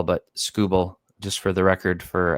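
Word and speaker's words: Skubal: next is this uh TK scoble uh not scoo ball like sco Ball but scoble just for the record for everybody in the universe TK scuel is how you say his name uh and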